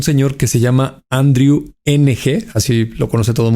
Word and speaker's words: Ng: que se llama Andrew NG, así lo conoce todo el mundo, Andrew NG. lo pronuncian Andrew Eng. Se se pronuncia eng, pero sí, sí, sí,